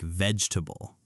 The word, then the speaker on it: vegetable: A lot of learners pronounce every syllable, but native speakers often say it more like vegetable.